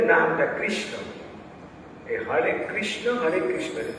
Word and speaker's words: কৃষ্ণ: দেও নাই যেন বুঝতে পার প্রথম যে নামটা কৃষ্ণ এই হরে কৃষ্ণ হরে কৃষ্ণ একদম ক্লিয়ার কাটা উচ্চারণ হরে হরে কৃষ্ণকে যদি তোমরা কৃষ্ণ বলো